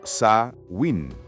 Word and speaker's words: Samhain: celebraba una fiesta llamada Samhain, pronunciada como Sa-win.